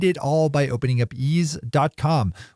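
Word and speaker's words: Eaze: all by opening up is calm which is spelled e a ze assuming you live in a part of California where delivery is allowed and where ease is active you could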